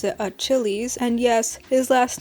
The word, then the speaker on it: Achillies: Yes, his name is spelled with an I and yes, I pronounce it Achilles and yes, his last name is stolen from the guy I have as my phone background, Akihiko Sanada Persona 3.